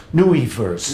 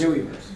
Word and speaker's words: NUIverse: you pronounce Nui verse newwie verse new verse natural user interfaces I coined post wimp that didn't catch on terribly well but Nee because it rhymes with gooey right nobody tells you